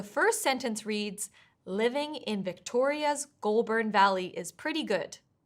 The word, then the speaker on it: Victoria's: than one syllable, like the word Victoria's, where the stress needs to be on the second syllable.